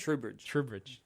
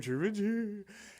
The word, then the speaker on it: Trubridge: Trubridge.